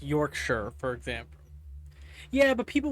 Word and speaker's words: Yorkshire: Yorkshshire is pronounced Yorkshire, for example.